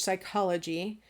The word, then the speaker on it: psychology: top of the page, psychology. So let's break that down into its phonemes. We know that the first P is silent, so the first phoneme would be S, and then you'd have the Y, which comes out as I.